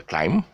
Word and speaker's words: climb: with an s it's pronounced the plural is pronounced as debris okay no no s noise and it would climb it's a climb no no okay so uh no climber timer